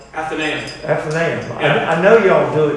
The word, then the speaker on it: Athenaeum: In Boston, in Massachusetts, how do you pronounce Athenaeum? Do I have it right? Athenaeum.